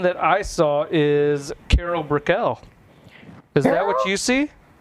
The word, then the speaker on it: Brickell: Hey, Carol Brickell, I think is pronounced right. Brickell, yes. Yeah.